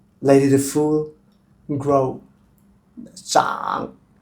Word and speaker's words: 長: Let it to full grow, zhǎng. Also it can be pronounced as another cháng means long.